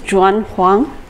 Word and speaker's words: Juan Huang: 2 30 or 2 35 my name is john kwon jordan the pronouncing chinese is joy not in spanish so